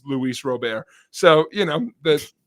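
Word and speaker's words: Luis Robert: have a center fielder you would swear his name is Louie Roberts it's Luis robar so you know that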